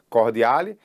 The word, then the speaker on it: Cordiale: Quando a Alemanha declara guerra à Rússia fazia parte da Tríplice Entente, né, a Entente Cordiale, ou a Entente, né, com a pronúncia correta, Cordiale, e aí a Inglaterra e a França vão ficar do lado, né, do lado da Rússia.